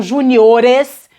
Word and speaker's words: juniores: verdade andou duas casas, agora a sílaba forte tá aqui no O, e o timbre é fechado, então juniores.